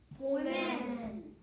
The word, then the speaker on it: women: How do you pronounce it when it's plural? Woman. No. You just said the same thing. You said woman. What is this one? Woman. No, I see a lot of women.